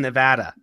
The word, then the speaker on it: Nevada: not I've lived in Oregon I've lived in Nevada it's Oregon it's Nevada yes it's Nevada it's